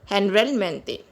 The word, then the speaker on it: generalmente: Guys, here you see, here we use G before O, it is pronounced as luego, and here we use G before E, it is pronounced as H. Generalmente.